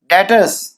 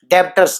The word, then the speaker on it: debtors: एक मैंने आपको बताया था डेटर्स में बी साइलेंट रहेगा, बी नहीं बोला जाएगा, DEBTORS लिखा जाएगा, पर बोलेंगे डेटर्स डेटर्स डेटर्स, याद रखना डेटर्स, डेब्टर्स नहीं, ठीक है।